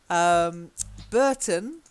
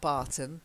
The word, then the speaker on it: Burton: okay yeah exactly yes Burton as well not Barton Burton yeah well we don't roll out us the way we used to so Burton okay but not not Barton yeah and then you